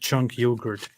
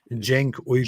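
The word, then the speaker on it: Cenk Uygur: White Trash Banner said Jank's name is pronounced Chunk Yogurt. That's messed up. It's actually Jenk Uyghur.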